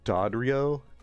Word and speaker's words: Dodrio: sky looks so good next we're going to dodrio a new addition to our research uh it's pronounced dadrio it's not a bad shot at all other